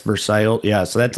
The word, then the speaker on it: Versailles: Like Versailles, but it's Versail.